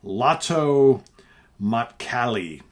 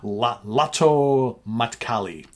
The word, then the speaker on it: Lähtö Matkalle: The second is titled, and all this stuff is in Finnish, so hopefully, Lähtö Matkalle, I believe is how it's pronounced. Lähtö Matkalle.